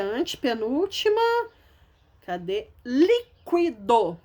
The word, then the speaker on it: líquido: Líquido. Ó, líquido. A sílaba tônica é o li. Não é a última, não, nem é a penúltima. É a antepenúltima.